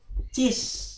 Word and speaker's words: cis: dengan C kres ya C kres ditulisnya seperti ini C kres dibacanya ini cis ya C Cres dibacanya cis ya Jadi ini kan C